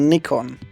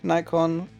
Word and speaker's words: Nikon: Or Nikon, that has two ways of pronouncing it, minus point. Where should I start? I think Nikon, similar to Canon, used